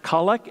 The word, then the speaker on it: collect: you of the terminology a colic is spelled like collect but it's pronounced colic and that colic is